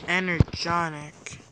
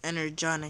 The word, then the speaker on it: Energon: just being sarcastic I can craft one more energy on ik yes a new energy on ik mad but